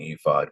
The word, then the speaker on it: ephod: Let's make sure I'm pronouncing Ephod correctly.